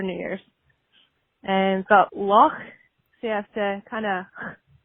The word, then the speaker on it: Loch: And we've got Loch. So you have to kind of your CH at the end, so you have Loch Ness and Loch Lomond.